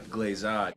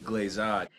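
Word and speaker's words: glissade: I'm sorry, seems so bad is that they're mispronouncing the first two terms, which could easily have been looked up. Encortada glazade.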